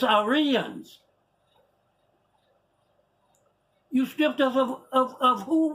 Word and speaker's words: Aryans: They don't even know how to pronounce it. It's Aryans.